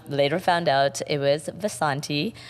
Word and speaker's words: Vasanti: Vasant Vasanti she's like you mean Vasanthi no I'm pretty sure you're pronouncing that wrong it's Vasanti okay and so both